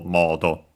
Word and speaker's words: モード: But luckily, still accented, just like in English, and so on the first syllable, modo.